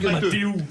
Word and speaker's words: Mathéo: Ça se prononce Matteux.